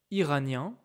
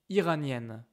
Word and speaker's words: iranienne: For example, a man is Iranien and a woman is Iranienne, okay?